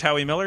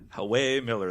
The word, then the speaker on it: Howie Miller: It's actually Hawaii. Hawaii. But my wife, who does all my bookings, for the majority anyways. Hawaii Miller, the Hawaiian Miller.